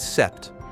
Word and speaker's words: sept: Number seven is sept like set seven days a week.